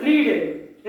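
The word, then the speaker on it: read: form क्या होगा English रीडर रीड का थर्ड फॉर्म क्या होगा रीड रेड रेड स्पेलिंग से रहेगा लेकिन पढ़ेंगे कैसा रेड रेड थर्ड फॉर्म किसका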